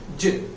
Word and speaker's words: je: call it as Jill so it spends je but we need to pronounce it as Jill so I is the